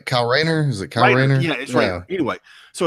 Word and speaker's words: Kyle Rayner: white lantern Tom yeah cow rights not Ratner anyway kyle rayner who's a clown anyway